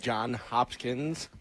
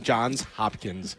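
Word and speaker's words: Johns Hopkins: We are out here at John Hopkins. See now I'm saying it wrong. John's Hopkins. It is a confusing name.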